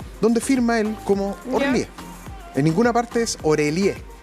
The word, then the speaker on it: Orélie: Mira, primero quería mencionar que muchas personas le dicen Orelié. ¿Ya? Mira, yo decía, ¿por qué le dicen Orelié si es Orlié?